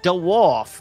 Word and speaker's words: DeWolf: talk like this I my name is DeWolf that's two syllables so I I wanted